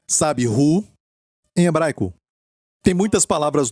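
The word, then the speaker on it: הוא: Quem aqui em hebraico se pronuncia, sabe, Hu, em hebraico.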